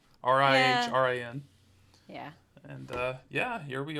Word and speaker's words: Rihrin: She plays Ririn. I believe that's how you pronounce it. Rihrin.